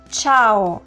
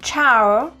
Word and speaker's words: ciao: both of these occasions the right pronunciation is ciao not ciao ciao no ciao then we have Salva